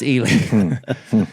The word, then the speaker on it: Ely: And I So was you would like, say Eli. wouldn't that be Eli? And he said, no, it's Eli.